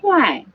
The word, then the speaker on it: 快: 快, the fourth tone, which means be Hey, about the to do alarm's working something.